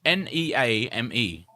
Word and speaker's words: Neame: How are they pronouncing his name? Griffin Naeem? Wait. Neem? Yeah, Neame.